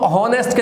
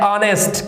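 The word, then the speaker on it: honest: पर आपको पता होगा एच के बाद ओ आने से एच बहुत बार साइलेंट हो जाता है। अब आप इसको हॉनेस्ट नहीं कहेंगे, ये हमारा बनता है ऑनेस्ट।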